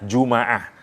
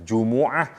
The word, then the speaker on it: Jumu'ah: durhaka boleh juga dibaca jumaah Kenapa karena berkumpulnya manusia karena pada saat itu banyak manusia yang berkumpul karena itu disebut dengan jumaah jangan disalahin ada tiga memang cara bacanya Jumuah Jumat jumaah kita milih Hai nomor